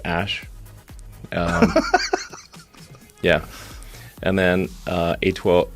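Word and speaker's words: X Æ A-12: X um and then the AE is like pronounced Ash um yeah and then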